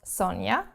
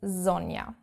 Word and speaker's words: Sonja: Not Sonja, as I get called, but Sonja in German, proper correct German.